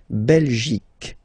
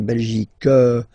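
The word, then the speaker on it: Belgique: okay La belic okay remember here you will get only the sound C okay belic belic so it's not belg not at all okay because it's only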